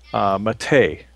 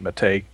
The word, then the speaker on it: MATE: popular very popular right now is Ubuntu Mate. You'll see Mate. They pronounce it Mate. It's French. It's not mate, Um, it's Mate.